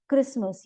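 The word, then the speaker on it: Christmas: तो इन जगहों पे हम सी एच को क की तरह अनाउंस प्रोनाउंस करेंगे जैसे कि क्रिसमस ये एक फेस्टिवल है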